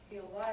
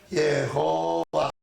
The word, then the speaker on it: Jehová: sabían que los judíos, cuando ponían el nombre sagrado, le colocaban el sonido de las vocales Adonai abajo, para que cuando la gente estuviera leyendo el nombre sagrado, no lo pronunciara, sino que dijera Adonai. Los que no sabían, como vieron las vocales abajo, pues dijeron H-O, de Adó, O de Adonai, Jehová, a Jehová.